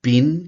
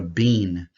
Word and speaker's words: been: Cuidado com a palavra been, porque na pronúncia soa muito parecido, muito similar à palavra being, que é B-E-I-N-G.